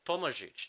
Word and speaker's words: Tomazic: This is exactly why Tomazic, Tomajic, that's how you pronounce it if you're Slavic.